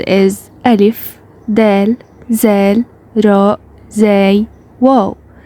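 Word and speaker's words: ذال: First of all, Zal pronounced like the th in them, that, there, and these, etc.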